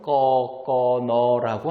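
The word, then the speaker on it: กกน: 그래서 태국인들이 보통은 꺼꺼너라고 하는데요.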